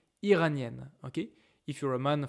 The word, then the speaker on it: iranienne: For example, a man is Iranien and a woman is Iranienne, okay?